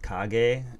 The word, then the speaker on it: Kage: So, it's really not pronounced Cage, it's pronounced Kage, and that means shadow in Japanese.